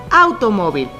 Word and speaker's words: automóvil: m s o vocal por ejemplo automóvil vamos a separarlo en sílabas auto móvil y es aquí donde nos damos cuenta que la sílaba tónica está en mo y si contamos las sílabas en la penúltima por lo tanto es grave y recordando las reglas